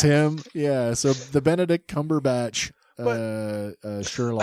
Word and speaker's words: Cumberbatch: Bandersnatch Cumberbund. That's him. Yeah. So the Benedict Cumberbatch Sherlock. I love that everybody has their own way to say his name incorrectly.